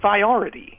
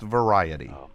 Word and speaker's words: variety: you say it variety it looks like it's pronounced Varity well no it's pronounced variety anyway I can't wait